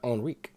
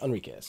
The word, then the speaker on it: Enriquez: But his voice by Daryl Enrique. Well, thank you for clarifying. Enriquez? Enriquez, sorry. It's spelled Enrique, but then it's apparently spelled differently here.